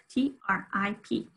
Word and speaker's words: trip: And the 12th one is trip, T-R-I-P. Some people hear, they don't hear that T-R very well, trip. They hear some sort of combination of J and D.